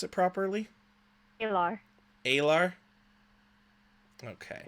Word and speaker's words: Aelar: do you say your name so I didn't pronounce it properly lr LR okay name that is not original to